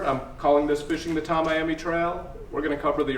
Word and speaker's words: Tamiami: Tamiami, what do you want? Just like Tammy Tracy. That's Tamiami.